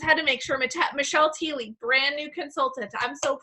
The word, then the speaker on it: Thiele: It's Michelle Thiele. Thiele. Okay, Michelle Thiele. Yes, I was like Thiel, but I was like, I thought Barbie was saying Thiele, so I just had to make sure. Michelle Thiele, brand new consultant.